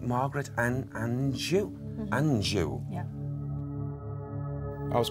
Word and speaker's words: Anjou: How do I pronounce that? Margaret, it sounds like Margaret and Anjou.